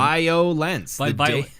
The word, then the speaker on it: Vio-lence: All right, so we listened to Eternal Nightmare, the debut album, VIO-LENCE. They pronounce it violence. Just if violence. You ask them, they just say it's violence.